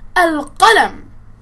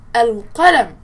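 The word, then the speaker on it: القلم: Please say with me al-qalam. Al-qalam. Please notice I have pronounced al-lam al-qamariyyatu with a sukun.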